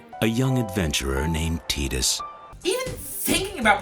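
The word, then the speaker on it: Tidus: book in the new testament titus timothy timothy tied us but there does exist a rare commercial where his name is actually said a young adventurer named titus even thinking about pronouncing his name is oh it makes my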